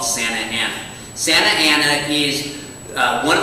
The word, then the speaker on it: Santa Ana: Santa Ana, of course, it's Santa Ana. That's its original name. And if native Spanish speakers were going to combine them, you'd use a process of elision and call it Santana.